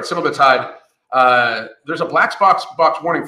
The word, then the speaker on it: semaglutide: And the reason for this is that there is a black box warning on Semaglutide, I finally said it right, Semaglutide, there's a black box warning for it possibly causing cancer, thyroid cancer, and thyroid tumors.